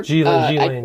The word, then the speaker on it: Ghislaine: Ghislaine, yes. Ghislaine. S is silent.